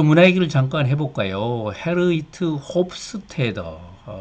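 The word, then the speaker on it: Geert Hofstede: 헤르이트 홉스테더, 이제 네덜란드 사람인데 네덜란드식으로 가깝게 발음하면 헤이르트 홉스테드, 영어로 쓰면 이제 기어트 홉스테드가 되겠는데요.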